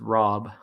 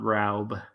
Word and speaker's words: Rob: But I will try to remember it's Rob, not Raub. Raub is a little strange sounding, so I can understand that. Yeah. Yeah. But Rob, Rob. Rob. Rob. Yeah. It's Gosh, still tricky. I just got to think like robbing a store Yeah.